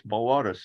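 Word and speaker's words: Boötes: It's Boatus. It's got a couple of dots over one of the O's.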